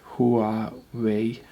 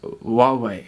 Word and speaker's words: Huawei: Like, this is particularly about Huawei, which is spelled Huawei.